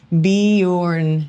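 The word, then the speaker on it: Bjorn: My son's name is Bejorn and the J makes the Y sound. I said it without even reading that part. Bejorn is how you pronounce it. That was good. In Scandinavian. Just thought I would share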